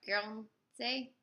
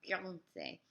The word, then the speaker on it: Guernsey: Is that how you pronounce it? It's Gournay. And Guernsey. No, Guernsey. There we go. Guernsey.